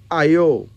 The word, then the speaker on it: Ayo: And Ayo.